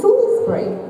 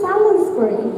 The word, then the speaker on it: Salisbury: Do you say your name is Salisbury? Yes. That is how it is pronounced. I didn't know that. I thought it was Salisbury.